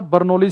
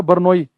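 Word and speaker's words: Bernoulli: पर काम करता है बर्नोली थ्योरम या बनोई एल साइलेंट होता है व इसमें बनोई थ्योरम ठीक है अच्छा सेकंड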